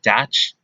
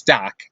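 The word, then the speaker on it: Dach: playoffs two minutes left doc comes on as the extra attacker it's dak right that's how you say that name it's not dash it's doc i think all right mitch cove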